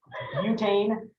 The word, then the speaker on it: butane: It's pronounced butte, not butt. Butane. Wait, do you know these numbers?